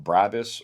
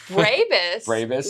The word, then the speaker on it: Brabus: Okay, let's talk about Brabus or Brabus. However you want to pronounce it. I know that's how you were going to start. Yeah, however. Oh. Brabus would be the American accent, I think.